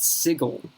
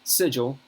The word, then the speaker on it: Sigil: Listen, I know, in one of these damned books, it pronounces the city, sigil, which is S-I-G-I-L, as sigil. That's the pronunciation guide. Technically, it is, because Planescape was trying to be weird.